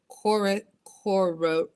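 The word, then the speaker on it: Coereba: Koriba. Coreba art. Coreba Koriba. art. Yeah. So Promise. Kariba is the scientific name for the banana quid.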